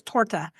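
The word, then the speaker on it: торта: word cake, the cake, the word cake is torta, but it's spelled like tota because some of their letters are like a P is an R. But if you say the cake, it's torta and tor because they put the on the end.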